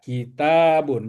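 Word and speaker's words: كتاب: Nah, tanya-nya harus panjang ya, Bi. Kitabun. Heeh. Hadza kitabun. Jadi, ada huruf alif setelah ta. Iya, ya kan.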